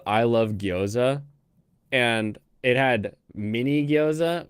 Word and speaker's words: gyoza: She's like, "What's a gyoza?